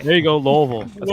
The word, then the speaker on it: Louisville: There you go, Louisville.